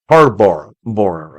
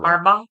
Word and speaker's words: Harbaugh: Harbbor Bora, I can't say his name. Harbaugh.